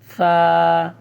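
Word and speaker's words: ث: আপনাকে সঠিক উচ্চারণ করতে হবে, বলতে হবে আলিফ, বা, তা, সা, সা হরফটা একটু নরম করে পড়তে হবে আপনাকে। সা, জিহ্বার আগা আপনার দাঁতের মধ্যে লাগবে।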